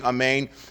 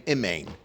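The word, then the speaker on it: אָמֵן: mean that you're mispronouncing amein. Instead of saying amein, you're saying imein. You're saying it with you're saying it imein.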